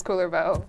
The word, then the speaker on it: Kullervo: it's linking to their Twitter um anyway there's cooler bow and then there's cooler though I love it phenomenal we'll never forget how to pronounce cooler bow yeah with art like this I know I